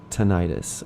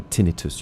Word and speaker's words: tinnitus: since I'm suffering from tinnitus or tinnitus. You have 2 ways of pronouncing that.